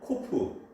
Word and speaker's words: cup: 인천 앞바다에 사이다가 떴어도, 다시 말해서 인천 앞바다 물이 다 사이다를 할지라도 코프, CUP, 컵입니다. 옛날 발음이죠.